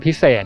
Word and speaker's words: พิเสฐ: Gap: This house is called 'Piset House'. Gap: It's the owner's first name, whom we call 'Por'. Gap: It rhymes with the word 'piset' that means special.